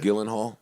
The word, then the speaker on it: Gyllenhaal: Is that how you say his name? Yeah. Jake Yeah. Gyllenhaal. Yeah, Gyllenhaal. Gyllenhaal. Jillian? Oh, okay. I learned something.